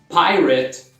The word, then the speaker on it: pirate: Pirate.